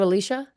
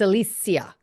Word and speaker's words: Alicia: wrong all these years it's not Alicia apparently not it's Alisia according to uh the lady herself people have been saying